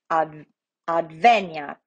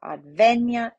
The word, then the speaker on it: adveniat: We look at the penultimate is the I, right, between the N and the A, and it is short. So our syllable, our accent goes to the antepenultimate, the E, adveniat, right?